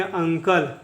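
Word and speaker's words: uncle: देखिए, जब भी वर्ड के एंड में, वर्ड के लास्ट में ई आएगा तो ई क्या होगा, साइलेंट रहेगा, ई साइलेंट रहेगा, ठीक है। इसको पढ़ेंगे अंकल, इसको पढ़ेंगे अंकल।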